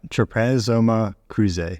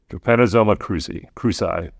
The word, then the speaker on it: Trypanosoma cruzi: I might have to refer to John to pronounce this for me. All right, let me give it a shot. Trypanosoma cruzi. Yeah. Trypanosoma cruzi.